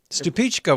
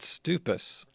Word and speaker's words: Stupice: Stupichka was another one of those.